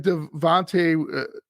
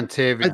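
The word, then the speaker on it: Dontayvion: If Devontae Wicks, he's pronounced his name wrong for whatever reason. I Dontavian.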